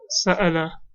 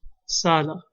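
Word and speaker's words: سأل: Or the verb sa'ala, he asked, can also be pronounced sala.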